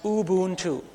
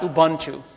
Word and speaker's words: Ubuntu: pronounced Ubuntu period not Ubuntu don't ever say that uh the reason I know that is my wife is a Zulu it's a Zulu word and Ubuntu is the correct way to pronounce it true story person at